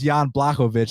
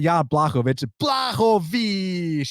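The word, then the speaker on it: Błachowicz: i mean uh i i love how he pronounces jan blakovich it's not yah blakovich you know so the vich is very exciting but take all that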